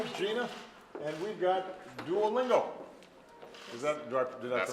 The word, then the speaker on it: Duolingo: And we've got Duolingo. Is that, did I That's pronounce correct, it properly? Duolingo, yeah.